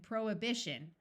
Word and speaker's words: prohibition: as vehement vehicle and prohibition note that the root prohibit has the H pronounced but once you add the shun the H sound disappears there are some names